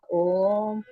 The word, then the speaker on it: ओम: ओम हम सांस भरेंगे ओम का उच्चारण होठों से ओम बाद में होठों को बंद करेंगे ओके और म का उच्चारण नाक से होता ठीक है खींचेंगे ऐसे